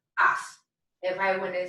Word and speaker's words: haz: the verb hacer, and it is pronounced as. Careful with that one because the H's don't make a sound and the Z always makes an S sound. So we have as.